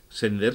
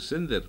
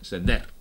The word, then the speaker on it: Sender: comete mucha gente y Sender se pronuncia así, como vender, como tender, como pender. Si tuviera acento en la primera E, habría que decir Sender, pero hay que decir Ramón José Sender.